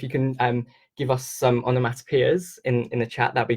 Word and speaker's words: onomatopoeia: So the reason why I'm saying it like this, it's a bit funny, is if you think of the boy's name Joe, J-O-E, it's spelled similar to this, P-O-E, P-O-E.